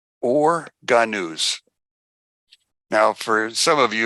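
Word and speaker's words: אור הגנוז: or, which is called or ganuz. Or ganuz. Now, for some of you, if you want to spell it out, it's O-H-R, and the second word is H-A-G-A-N-U-Z, or ganuz.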